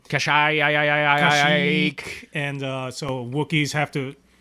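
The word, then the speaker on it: Kashyyyk: the Wookiee planet of cash eek yeah where ever you spell it's like ka shyy YK cash ook I've heard cash iiiiii and so wookies have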